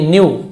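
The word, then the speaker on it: knew: he also न्यू, वह also यानी भी, न्यू के साइलेंट है, न्यू जानता था, नो का सेकेंड फॉर्म न्यू, दैट की सुल्तान खान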